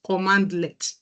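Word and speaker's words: cmdlet: here is CMD let CMD let is full pronunciation is commandlet commandlet and it's a par command it's like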